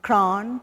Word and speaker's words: kran: Kran is a very peculiar sounding word because it's when 2-3 syllables and come together and make that sound, it's very difficult to get the real organic accent, to try and get that kran into your syllable vocabulary.